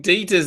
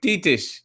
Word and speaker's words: Dietrich: And so we've been saying Dieter's name wrong too, because it's not Dieter, it's more like Dietrich.